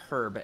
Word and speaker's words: herb: They say herb every single time. Oh, really? Yeah, that's pretty annoying. Yeah, I hate that. When people use H when it's supposed to be silent, very annoying.